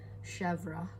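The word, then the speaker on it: chèvre: I guess I was saying it wrong before. It's actually Chevre.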